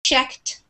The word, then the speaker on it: checked: swim um same with he arrived has the D sound but checked has more of like a t sound at the end